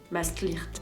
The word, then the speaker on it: Maastricht: dans les actuels Pays-Bas alors prononceer maastlicht Maastricht si vous voulez faire bien mais nous on a l'habitude de la prononcer à la française Maastrich Maastrich ça vous dit bien